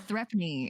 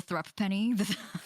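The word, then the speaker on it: threepence: it's absolutely that you're just desensitized now it's threepne it's pronounced threatening the the thrupp penny yeah i was like throw penny pray forgive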